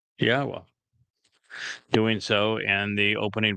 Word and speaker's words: Yahweh: It's a significant accomplishment since I painstakingly explained how one can prove that it is in fact pronounced Yahweh.